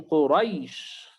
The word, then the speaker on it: قريش: بالدين القصر حركتين مد طبيعي، لكن قريش الياء هنا ياء ساكنة قبلها فتحة، فليست حرف مد وإنما هي حرف لين فقط تنطق ولا يزاد عليها شيئا. إذا أردت الزيادة ممكن أن تزيد 4 أو تزيد 6، لكن لا تزد وتجعلها حركتين.